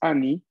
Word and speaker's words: anni: Annie quiere decir anos, si lo pronunciamos mal, ¿no? Por eso hay que pronunciar la doble N, atención.